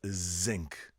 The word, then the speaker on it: zinc: I remember was like the sink is made out of zinc because we don't have the vibrating z sound you know like Zoo zinc you know so so